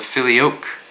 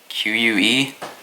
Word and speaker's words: Filioque: I think it's pronounced the Filioque, Filioque, and it's Latin for "and the Son."